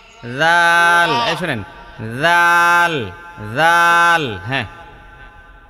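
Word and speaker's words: ذال: জাল জাল শোনেন জাল জাল হ্যা শোনেন আমি বলি আপনার এখানে জালের উচ্চারণটা হচ্ছে না জাল উচ্চারণ করতে জিহবাটা একটু বের করতে হবে কিসের থেকে দাঁত থেকে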